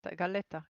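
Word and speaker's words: galleta: Galetta. Gaya. Getta. Double L is pronounced as a J.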